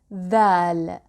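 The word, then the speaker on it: ذال: The sister of dal is dhal. Dhal. Dhal is pronounced like the hard th in English, like the th in the word this or the word that, the, dhal.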